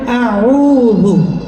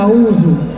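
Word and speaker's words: أعوذ: যেমন আপনাদেরকে আমি একটা আয়াত পড়ে শোনাই, যেমন আউযু, এখানে আপনি বলেন আউযু, আপনি আইনের উচ্চারণ হামজা করলেন, জালের উচ্চারণ যা করলেন, এটা লাহনে জালি।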